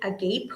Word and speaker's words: agape: and that is the agape or agape. It depends on you and how you would pronounce it. It could be agape or it could be agape.